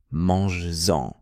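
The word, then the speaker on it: manges-en: Mais attention, pour des raisons de prononciation, on le garde quand le verbe est suivi de en ou. Mangesen, vas-y.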